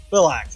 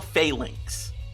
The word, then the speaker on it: Phalanx: Philax, how do you pronounce that? Shell phalanx.